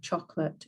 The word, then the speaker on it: chocolat: So an example of this would be something like chocolate. In English, we say chocolate.